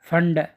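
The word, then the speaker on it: Pfund: lime बामर पाश्चन bracket फंड पी P silent फंड पी पी एफ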